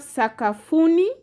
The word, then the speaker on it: sakafuni: Then you have sakafuni. Sakafuni has syllable Sa, Ka, Fu, Ni. Those are 4 syllables.